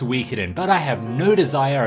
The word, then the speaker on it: Suikoden: feedback guys I am fully aware that it's pronounced Suikoden but I have no desire of ever pronouncing